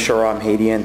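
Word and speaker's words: Shahram Hadian: Lee, and I apologize if I mispronounced your name. No problem. You were close. My name is Sharam Hadian.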